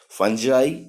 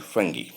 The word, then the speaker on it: fungi: The pronunciation of fungi is both fungi and fungi.